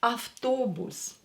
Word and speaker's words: автобус: Автобус. Автобус. Автобус. O is stressed. Pay attention to the stress.